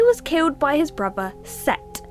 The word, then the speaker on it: Set: However, he was killed by his brother Set. Sometimes spelled like Seth, but apparently pronounced Set.